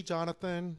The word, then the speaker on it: Jhonatan: your name okay so jonathan whatever is easy with flo chabot okay since i spell my name different a lot of people don't really know how to pronounce it that's why i ask